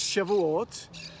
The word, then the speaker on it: Shavuot: tell us what this is and how we pronounce it correctly okay this is chivalott uh you probably don't know it by that